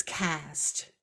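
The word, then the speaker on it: caste: pandemic years right and so the word is cast cast and it's spelled c-a-s-t-e and it means a system of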